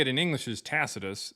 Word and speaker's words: Tacitus: Uh the way we say it in English is Tacitus. How they said it back then is actually Takitus. Okay. Yeah, it sounds weird, but that's literally how they said it in Latin.